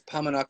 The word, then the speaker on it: Paumanok: paumanok I was like it's three syllables nobody knows what it